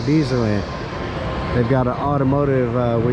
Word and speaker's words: Dezerland: I said it wrong, Dezerland.